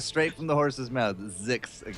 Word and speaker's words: Zix: Zix, guys. That is how we're going to refer to that. No more Zixa or Zizix or anything like that.